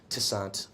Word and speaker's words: Toussaint: every older white guy mispronounces my name with like a TI instead of a tou toussaint - son we gotta shut this